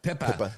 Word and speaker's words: Pippa: Pippa Pippa Scott. Yes. Say it like you're from Cape Cod.